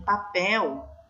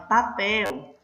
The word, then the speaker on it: papel: Se vocês observarem aqui em papel, vocês percebem nitidamente que a palavrinha papel, ela não é o pel, não tem acentuação, né? Vou até pintar aqui de outra coisinha para vocês entenderem, tá vendo? Não está acentuada, mas ela é a sílaba forte, ok?